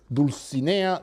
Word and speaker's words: Dulcinea: Quixote names is Lady deuce Ania del Toboso and Rocinante in the first case the lady he follows literary convention her name rhymes with Mellie bear who is the one